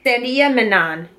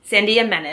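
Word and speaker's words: Sandhya Menon: My pile is When Dimple Met Rishi by, I finally figured out how to pronounce the author's name, Sandia Menon. Sandia Menon.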